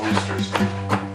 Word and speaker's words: Worcestershire: It's pronounced Worcester.